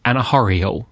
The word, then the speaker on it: Anna Mae Aquash: I looked at how to pronounce Anna Mae Aquash's name and found various sources that differed, but the most common pronunciation was Anna Mae Aquash, and that's the one I'm going to use through this episode.